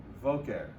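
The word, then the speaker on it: בֹקֶר: But there's no dagesh there. So how would we pronounce that? Boker. Voker. Everybody with me?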